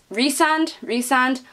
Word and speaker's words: Rysand: But I did reach the end of it and see how you were supposed to pronounce their names, and I pronounced his name wrong the whole way through. Of course you did, because you cannot read. Apparently it's Rysand, but I didn't like